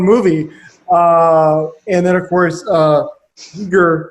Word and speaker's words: Giger: And then, of course, Giger, who I always pronounce his name wrong as a kid, called him Geiger.